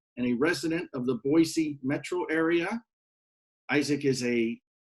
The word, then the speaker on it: Boise: that's true you know it's pronounced with an S not a Z so Boise and we all make